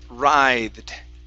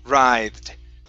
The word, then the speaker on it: writhed: you the word is writhed writhed right yeah the w don't worry about the w okay the w is silent okay so only pronounce an r ride i i have a